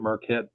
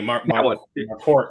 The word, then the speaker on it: Marquardt: A lot of different people coming in, and like Bridget Marquette, or how would you pronounce her last name? Exactly. Marquardt, I believe it is.